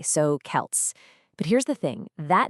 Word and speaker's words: Celts: First things first, it's pronounced with a hard K. So, Kelts.